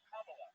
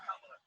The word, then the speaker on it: Kamala: Her name is pronounced comma, like the punctuation mark love. Kamala. Okay? Seriously, I've heard every sort of accusation. So what? That's how it is. Kamala.